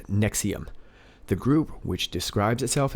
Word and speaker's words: NXIVM: Rainier has served as the leader of an organization near Albany called NX IVM pronounced nexium the group which describes itself as a self-help organization denies it as a call but former members have said that mr.